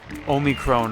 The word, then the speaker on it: Omicron: I always call it I actually say Omicron a lot, like at work and stuff, just because that's how it's pronounced in Japanese, and that's how, like,